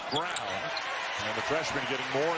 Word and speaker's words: Braun: brown do for you looks like braun pronounced brown and the freshman getting